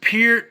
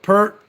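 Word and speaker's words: Peart: don't know you know canadians pronounce it pure americans we always called it pert whatever great drummer lyricist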